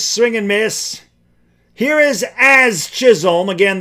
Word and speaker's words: Jazz: Here is As Chisholm. Again, the J is silent. It's just As Chisholm.